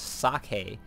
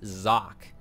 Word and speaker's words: Socke: zone agha caverns uh my pronunciation was a little bit off there it's actually I looked it up and while I've heard it pronounced sake I think I forgot who it was I think one of the big broadcasters HD husky or day night the actual pronunciation is Jacques so i will be using that from now on and braddock it